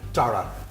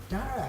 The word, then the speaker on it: Dara: Dara. Dara. Rhymes with Tara.